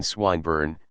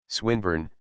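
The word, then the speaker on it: Swinburne: it meant this man swine burn he began attempting to put his plan into execution and pronouncing the iong who swine burn he repeated with the same mispronunciation the poet swinburn she corrected yes that's the chap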